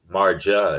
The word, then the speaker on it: Marja: There's no rolling of the R. It's more silent, like Spanish, if you will. So props. You don't pronounce the J as a Marja. It's Marja.